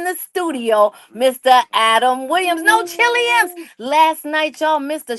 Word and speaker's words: No Chilliams: NOCHILLIAMS. Like Williams, No Chilliams.